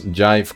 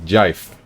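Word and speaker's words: GIF: times good times is to pronounce Jive correctly just use the G in gigantic gigantic gigantic gigantic oh it is gigantic there we go jife that explains it right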